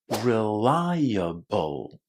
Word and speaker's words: reliable: So we connect rely and bull with a little vowel in between. reliable.